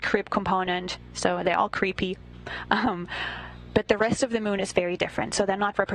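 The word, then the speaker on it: KREEP: weird component that we call creep and it's spelled K R E E P and stands for potassium, rare earth elements, and phosphor.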